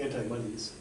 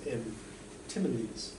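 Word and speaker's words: antinomies: I want to say anti-monies, like the anti-money. No, it's money and anti-money, it's meaning. That's what brought down the economy. They touched together, the economy went to pieces. I think the correct pronunciation is antimones.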